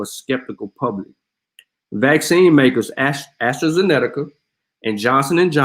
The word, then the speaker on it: AstraZeneca: Says Astrazeneca. And safety and effectiveness data late stage trials are early as January. Federal health officials say, yet there are already signs that AstraZeneca, some people actually pronounce it Zenetica, shot could fall well